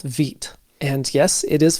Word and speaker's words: Vite: We're going to be using the recommended build tool called VIT. And yes, it is pronounced VIT. That's French for quick or fast.